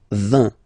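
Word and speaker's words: vingt: And the last one, so this G letter is here, but you don't pronounce it, okay? And then final T doesn't exist phonetically either, so basically you will only need to pronounce these 3 letters, so you get V, V, and then you get nasal, IN, un, 20, 20, 20, okay?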